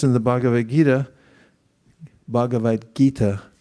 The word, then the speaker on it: Gita: says in the Bavad Gita Bhagavad Gita Americans especially me pronounce T's as D's it's really lazy I hate it gita and he says Raja Vija Rajiguya this verse.